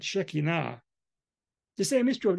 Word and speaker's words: Shekinah: So pronounce it right, Shekinah.